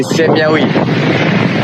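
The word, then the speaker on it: ሰማያዊ: We say Semyawi.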